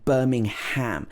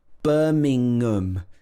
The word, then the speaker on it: Birmingham: like the meat but in the uk birmingham does not have ham in it it has um in it birmingham so the in the middle joins together with the schwa at